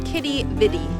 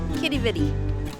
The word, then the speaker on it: Quidi Vidi: Oh, apparently it's pronounced Quidi Vidi. Quidi Vidi.